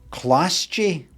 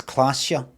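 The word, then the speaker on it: Klaasje: her lips this is Clash G Miss orange orangey orang no no you don't you don't pronounce it that it's classia the J's actually K classica uh Miss orange disco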